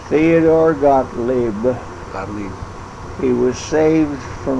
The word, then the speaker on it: Gottlieb: Brother Gottlieb? How do you say his last name? Theodore Gottlieb.